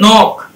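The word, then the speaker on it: knock: এখানে দেখেন এটা শব্দটা লেখা আছে SILENT সাইলেন্ট, কিন্তু এটা টিটা সাইলেন্ট, এখানে এটা সাইলেন্ট বলি আমরা, সাইলেন্ট। সো এই যে নক, নাইফ, নেক, নিড, নো, তারপর কি এই যে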